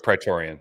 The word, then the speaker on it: Praetorian: He also gets the, how do you pronounce this? The Praetorian guards. Praetorian, yeah.